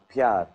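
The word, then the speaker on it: pyaar: Pyar.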